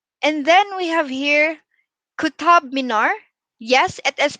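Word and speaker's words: Qutub: largest spice market and then we have here kutab minor yes it is pronounced as kuttab and it is a world heritage site complex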